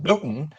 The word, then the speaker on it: Boonton: It's spelled Boonton, but it's pronounced Booton, as only New Jersey can do, right?